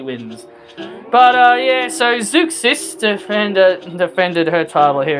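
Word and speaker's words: Zeuxis: Zukis is uh how they pronounced her name.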